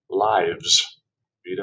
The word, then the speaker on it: lives: But if you pronounce lives with a long I vowel, it becomes the plural of life. Lives, vida or vidas.